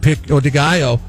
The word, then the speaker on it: pico de gallo: Choice of beef, chicken, or asada with beans, cheese, guacamole, and pico de gallo.